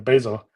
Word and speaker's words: Bazel: best um so for Basel integration um as um if you're if you're not familiar with Basel um some people call the basil it's up to you how to pronounce it so it's a actually